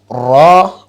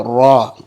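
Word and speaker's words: ر: of the tongue letters and then raw I will say a part time full mouth letter raw okay and then this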